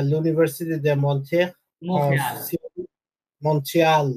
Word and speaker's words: Montréal: এটা হবে কি মোখেয়াল, বলেন মোখেয়াল। Montréal. টিটা উচ্চারণ হবে না মুসলিম, ঠিক আছে? টি সাইলেন্ট, মাঝে টিটা সাইলেন্ট, মোখেয়াল।